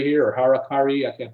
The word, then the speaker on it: harakiri: And then it talks about harikari here or harakari. I can't pronounce that. Harakiri.